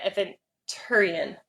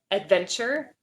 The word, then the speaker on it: Aventurine: I always call it adventure. Yeah. But there's no D. It's like Aventurine, I think is how you say it.